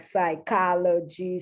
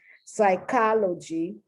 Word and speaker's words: psychology: find words as examples pseudo psi psych like psychology psychiatry psycho these are affixes uh normally i don't pronounce them sometimes i do sometimes i don't if it's an a